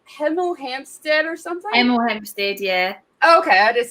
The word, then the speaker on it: Hemel Hempstead: Spell it. It's like Hemel Hempstead or something. Hemel Hempstead, yeah.